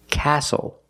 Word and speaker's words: castle: We also see the silent T when you have the spelling pattern S-T-L-E. Like these words, whistle, castle, and hustle.